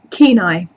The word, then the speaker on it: Kenai: It's pronounced Kenai, like night without the T.